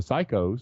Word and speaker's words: psycho: And you can talk about the P's and the pop filters and the pussies and the psychos, which you don't pronounce P that way when you say psycho.